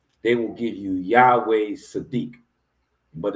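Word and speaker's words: צדיק: So the ah is gonna so it's Sadiq is how you would pronounce it.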